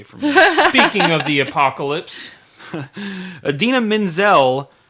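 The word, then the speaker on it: Idina Menzel: speaking of the apocalypse adina menzel which is the correct pronunciation mr travolta has all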